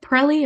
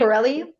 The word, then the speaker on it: Pirelli: They should make is it Pirelli? Am I pronouncing that right? Pirelli?